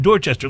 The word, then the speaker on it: Dorchester: Dorchester that is not pronounced just er it's pronounced Dorchester like there's no target ah for reason you